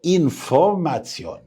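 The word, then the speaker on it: Information: اما الاي قول معايا انفورماتيون. انفورماتيون. ليه بقى يا احمد؟ لان الاي او ان في اخر الكلمة بتتنطق تسيون.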